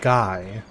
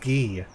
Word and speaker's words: Guy: up here hey there's so it's not pronounced guy um shoot how is it pronounced I think it's like Father uh ghee or brother ghee yeah it's pronounced ghee day and drers okay nobody's